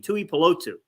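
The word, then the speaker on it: Tuipulotu: Polo tutor how do you say his name Tui polotsu my bad um Jalen Williams and I've had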